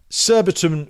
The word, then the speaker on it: Surbiton: Surbiton rhymes with Warburton. Nearly.